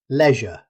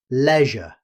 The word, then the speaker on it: leisure: In British English, leisure. The first syllable has the E sound, leisure.